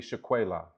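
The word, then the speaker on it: Shuqualak: Not lock your door because it's dangerous, but simply to illustrate how we pronunciate Sugar Lock, as in Sugar Lock. But it's actually Shaquela.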